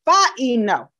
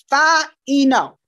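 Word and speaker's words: φαίνω: All right, it actually is pronounced phaino, phaino.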